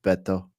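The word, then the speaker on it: Beto: to Scotland or something it's pronounced Betto Betto Betto and that I don't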